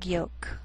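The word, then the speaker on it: yolk: sheal it wheel Veil sometimes L can be silent so you have to be careful the first five words listed below are very common so let's take the time to make sure that you're pronouncing them correctly listen and repeat after me talk walk could should wood the yellow part of an egg is the egg Yol and one pattern in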